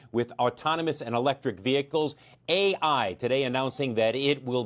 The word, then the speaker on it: AEye: is the ceo of ai and for people at home let's explain the company's name is spelled a and then e-y-e not a as an artificial intelligence um blair thanks for